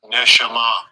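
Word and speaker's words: נשמה: So it's like you learn how to pronounce it. Listen to this. Strong's H, 5397. Neshama.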